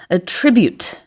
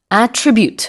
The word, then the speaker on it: attribute: It's the difference between a verb and a noun. 음. 자, 여기서는 동사기 때문에요. attribute 이렇게 발음을 하게 되는데 만약에 명사이면서이 똑같은 스펠링 at t r i bu t e를 쓰면 attribute 해서 어떤 것의 특징을 얘기합니다.